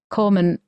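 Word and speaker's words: corpsman: Um, as a former submariner in the 80s, nearly every male medical corman, is it pronounced? Corbsman.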